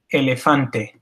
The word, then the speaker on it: elefante: has multiple E's, and each of those E's is pronounced exactly the same.